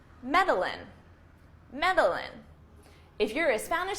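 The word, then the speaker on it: Medellín: that this Spanish name, that the double L in Spanish is actually pronounced as a Y sound, okay? Making the pronunciation of this city Medellin, Medellin, which probably still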